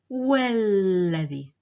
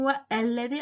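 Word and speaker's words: والذي: When it's preceded by wa, it becomes walladhi. Walladhi. So I'm not saying wa alladhi, I'm saying walladhi directly.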